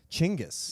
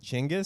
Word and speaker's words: Chinggis: Genghis. Yeah, that's Genghis's correct pronunciation. Which I refuse to say. It sounds racist. It sounds, I don't know, I kind of like it. Chinggis?